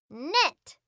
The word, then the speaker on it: knit: can it no no we do not say the k sound knit knit okay last one